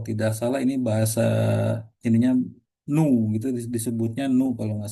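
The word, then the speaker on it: ν: Kalau tidak salah ini bahasa ininya nu gitu disebutnya nu kalau nggak salah ya. Ini tuh nu ya disebutnya. Walaupun kayak huruf P gitu kan, tapi kalau tidak salah ini dibacanya nu gitu ya.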